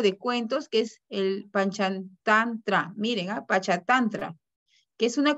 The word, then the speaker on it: Panchatantra: Que es difícil de pronunciarlo, el Panchatantra. Panchatantra.